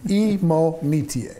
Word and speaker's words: Imonitie: And because I've heard it pronounced 5 different ways, right. He finally corrected me and, well, educated me. Imonitie.